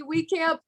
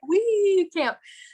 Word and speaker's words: Wiekamp: but i glamp but saying we go camping helps people remember my name and them always say it wrong but i'm like we can't so i am a